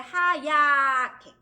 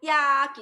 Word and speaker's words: 하얗게: 하얗게. 또 마찬가지죠. 하얗게를 떨어뜨리면 안 되는데, 떨어뜨리면 어떻게 되는 거야? 핫! 받침 붙이면 핫야게 이렇게 들려요. 하얗게가 되니까 두 발음에서 두 발음이 안 되게.